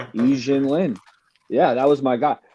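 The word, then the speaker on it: Yi Jianlian: Yi Jin Lin. Yeah, that was my guy. So, I mean, how many people would get E Jin Lin and not pronounce it Yi?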